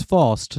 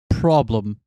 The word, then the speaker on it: Faust: It's Faust, not problem.